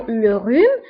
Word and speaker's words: rhume: فانتبهوا le rhume يكتب بH ولكن لا ننطقها. le rhume. d'accord H لا تنطق.